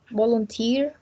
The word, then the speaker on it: volunteer: place the um stress the primary stress in the last syllable volunteer okay in the last